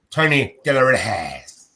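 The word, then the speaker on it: Tony De Las Heras: Ref was Shane Haynes and Tony De La Reyes.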